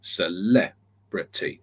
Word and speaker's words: celebrity: you use say again using celebrity it's little O big O celebrity so big O sorry